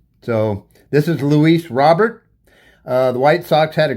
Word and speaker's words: Luis Robert: So I know we weren't sure how to pronounce his name, but this is one of the games I wanted to tune in to find out what was going on with his name. They call it Luis Robert.